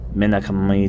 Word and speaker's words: Minakami: Minakami Dam is how they say it in Japanese.